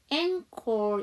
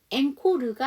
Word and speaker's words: encore: 자, 그래서 이게 영어에서 온 단어가 아니에요. 그래서 앵콜 이렇게, 영어는 앵코르가 아니고 앵콜 이렇게 발음을 해주시면 되죠.